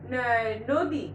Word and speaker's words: নদী: নদী আমরা লিখি নদী, তাই না? তো এটার উচ্চারণ করতে গেলে আমাদের উচ্চারণে আসতেছে নয় ওকার আসবে, নদী।